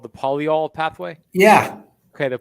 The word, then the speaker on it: polyol: i'm saying it right is it called the polyol pathway yeah okay the polyol pathway you i find this fascinating i haven't